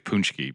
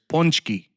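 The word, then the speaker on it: pączki: I think it's punchki, but yeah. So the way that Polish people say it up here is ponchki.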